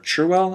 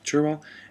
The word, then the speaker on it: Cherwell: discusses about how the river churwell I think it's pronounced cherwell and then the Tims